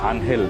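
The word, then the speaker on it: Ángel: মানে উনার নামের আগে যে এঞ্জেলটা লাগানো আছে যেটা আনহেল উচ্চারণ করি আমরা এটার পেছনে আসলে একটা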